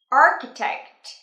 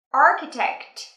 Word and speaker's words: architect: Architect. Nhớ phát âm âm kết thúc nhé. Architect.